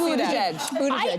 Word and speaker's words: Buttigieg: How do you say that name? Buttigieg. Oh, you knew it too. Yeah. But first time before you ever I was like, I was afraid. I saw butt. Okay. I did see butt. It is Buttigieg.